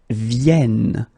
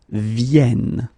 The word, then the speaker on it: viennent: and the last one, because you've got this double N here, you need to pronounce this like and that's the reason why you should pronounce it viennent, viennent, okay?